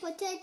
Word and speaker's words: potatoes: How many potatoes are on the ground? Okay, potatoes. There's S. Pronounce letter S.